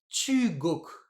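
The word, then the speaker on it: 中国: Du coup, je lis ça chu, chu, et l'autre c'est koku. Alors, je vais pas lire chu, ça koku. chu koku, je vais mettre un accent, ce sera plus facile à lire. Ce sera chugoku.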